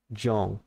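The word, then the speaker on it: Yawn: Yeah, John is the name of the snake. Y-A-W-N. John. I spell it because... maybe it sounds like I say John.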